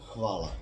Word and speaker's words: Hvala: Hvala.